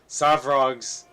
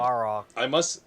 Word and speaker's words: Svarog: All right, Lord oh my God, Savrog's trust or Roland's safety. Excuse me. Svarog. Svarog.